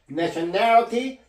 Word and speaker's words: nationality: 때문에 이걸 강하게 해줘로 발음해 줘야 됩니다 reality nationality 이렇게 발음 이렇게 발음해야지만 원어민 같이 느껴집니다 원어 같은